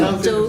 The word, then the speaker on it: Suzhou: It's Suzhou. actually Suzhou. Yeah. Yeah, not yeah. Suzhou. You pronounced it Suzhou. very well.